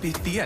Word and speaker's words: Pythia: b-y-t-h-i-a it's pronounced by thea and i'm here to